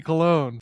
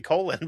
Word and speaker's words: Colon: And his last name, if pronounced correctly, Dirty Cologne. Filthy Dirty Cologne. I I went with dirty colon, but it's a good thing he's in prison.